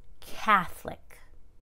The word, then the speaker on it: Catholic: reduced to k but when it's an adjective it's catholic catholic catholicism here's a really common